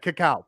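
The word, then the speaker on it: CACAO: uh coco or kaca how do you guys pronounce it because I know it's the the Spanish spelling kak okay caca perfect um and and I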